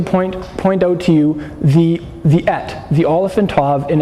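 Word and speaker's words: את: The Hebrew is that Hebrew word spelled Aleph and Tav is pronounced et.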